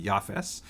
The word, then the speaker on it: Japheth: flood he has a son named japheth in the ashkenazic pronunciation that would be yafes yafes has a son